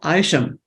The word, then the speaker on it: Isham: job as Toastmaster uh last name is pronounced aisham there you go yep